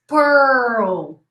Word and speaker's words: Pearl: Pearl, your tongue goes like this. Pearl, okay?